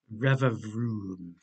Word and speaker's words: Revavroom: Revavroom. Rhymes with Rillaboom or La Baby.